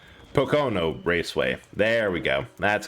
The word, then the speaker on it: Pocono: a different track to P to Pok P Pocono Raceway there we go that's how you say